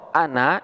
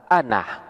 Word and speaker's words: أنا: Allah, ana saya Allah, Allahu ialah Allah.